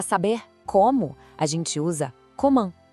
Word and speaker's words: comment: E para saber como, a gente usa comment. E olha aí o som nasal de novo no final. Para facilitar, vamos dividir em 2. Co-man. A segunda parte é a nasal, man. Tudo junto, comment.